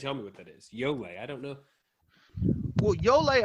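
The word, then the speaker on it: Ioele: Yole. I don't know. Well, Yole, I had to hear the audible version of it because I had no idea on reading it how to pronounce it.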